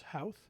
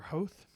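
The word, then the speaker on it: Howth: wrong I'm sorry but I believe that the pronunciation is house or hoath um and we decided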